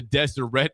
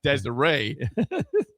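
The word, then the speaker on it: Deseret: He says the Desireette News is pronounced with a hard T. It's not Desiree.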